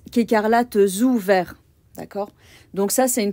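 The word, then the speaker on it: écarlates ou verts: feu voyez qu'il faut bien faire attention à la liaison on prononce quécarlat ou vert d'accord donc ça c'est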